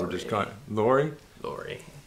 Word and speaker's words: Lurie: Can't pronounce his last name. That's Lurie. What we're just calling him. Lurie? Lurie.